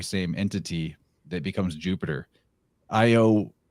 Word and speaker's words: Io: entity that becomes jupiter io would be pronounced like yo and the a and